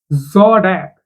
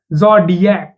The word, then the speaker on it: zodiac: Zodiac. Zordiac. It's not zodiac. It's zordiac. Zodiac.